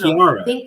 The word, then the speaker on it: Chiara: I am from an Italian background, so it's a K sound. It's Chiara. Chiara. Think of like tiara, like a tiara on your head.